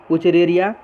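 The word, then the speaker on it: Wuchereria: जैसे एस्केरी जिसको round worm भी कहते हैं, वुचरेरिया, अच्छे से प्रोनाउंसिएशन करें, वुचरेरिया, फाइलेरियल वर्म भी कहते हैं, और एनसाइक्लोस्टोमा जिसको हुक वर्म भी कहते हैं।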